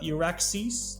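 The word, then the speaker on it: EURAXESS: positions all over Europe obviously there's also uh Iraq sees that's spelled e-u-r-a-x-e-s-s which is from the European commission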